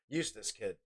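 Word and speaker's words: Eustass Kid: Do I say that? Is that how you say it? Eustace? Eustace Kid? Yeah, Eustace Kid.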